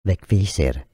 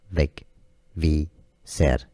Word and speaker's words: Vegvísir: So let's break down how you pronounce this name. In Icelandic, it's said Vegvísir. Vegvísir.